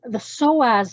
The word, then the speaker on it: psoas: The psoas muscle is involved here. Do you know the psoas muscle? No. Okay, it's spelled SOAZ, and it's at the front of